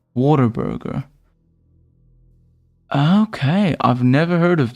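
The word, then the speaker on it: Whataburger: keep looking at it it's pronounced what a burger but I call it Water Burger okay I've never heard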